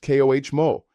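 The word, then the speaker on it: cómo: How is ko pronounced koh mo? The accent mark indicates stress on the first syllable.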